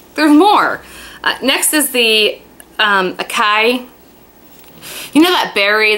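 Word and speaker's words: açaí: Next is the Akai. You know that berry that's spelled A-C-A-I, which I'm probably saying wrong?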